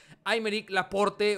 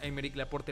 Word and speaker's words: Aymeric Laporte: Aymeric Laporte, o Aymeric Laporte, supongo que así se debe decirme, ahí me dijeron que no se pronuncia la última letra.